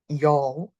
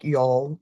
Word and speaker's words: Youghal: that I was going, called Yol. It's like Yol. I don't know if that's exactly right. It's spelled Youghal, at the coast.